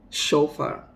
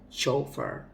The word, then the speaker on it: chauffeur: words that we always that we often do pronounce wrongly now let's look at some examples chauffeur chauffeur not chauffeur no chauffeur he is a chauffeur shoot shoot